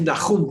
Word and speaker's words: Nahum: que se llamó Nahum, que ahora te le llaman Nahum, porque en español ya no pronuncian la H, pero en hebreo no se escribe con H, se escribe con Het, y es Nahum que se dice.